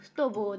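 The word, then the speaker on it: football: 発音的にはフトボーです。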